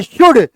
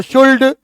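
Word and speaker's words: should: है यहां पढ़ते हैं शुड एल का उच्चारण है आ का उच्चारण कर दो शुड कुड वुड तो कहेंगे एरर है आप इसको कहते हैं शुड कुड उड एल का उच्चारण नहीं होता है फिर उच्चारण होता है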